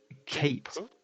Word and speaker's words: Cait: Kate. Kate? Is Yeah. that a female character? Yeah, it's spelled Cait.